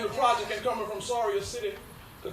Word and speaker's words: Soria City: I learned over the years being in the project and coming from Soria City, the correct pronunciation for where I was born, Soria City. It's not Surrey. It's a R-I-A city.